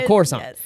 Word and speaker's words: Coruscant: I was like, no, the C is just pronounced S. So Coruscant.